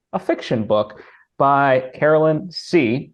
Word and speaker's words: See: fiction book by Carolyn c c spelled like I see you not the seed that